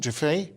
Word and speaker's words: Giuffre: Giuffre? Is that how you pronounce that? Yeah, Virginia Giuffre.